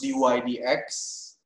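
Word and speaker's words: dy/dx: It's not a division. Not division. So it's pronounced dy dx.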